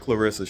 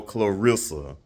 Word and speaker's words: Claressa: But, I don't really think it's meant for you to actually fight Claressa Shields, to be quite honest with you. And yes, the proper pronunciation for the goat's name is Claressa, not no Clarissa.